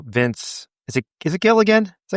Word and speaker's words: Gilligan: Brandon, have you seen the new Vince, is it Is it Gilligan Is that how you pronounce his name? Yeah, it's Gilligan, the Breaking Bad creator, Better Call Saul.